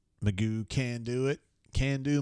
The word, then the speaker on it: McGough: dealership here used to be called Magoo. Not that way, but MCGOUGH, and you call it Magoo can do it, can do Magoo.